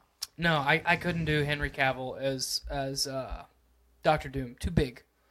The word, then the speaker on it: Cavill: It's Cavill.